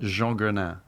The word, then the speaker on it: Jeanguenin: So the French version is Jean Guenin.